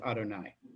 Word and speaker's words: Adonai: But this is by convention always pronounced Adonai.